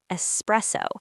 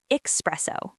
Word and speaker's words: espresso: Another common point, pronouncing espresso. Many learners say espresso, but the correct word is espresso. No X sound.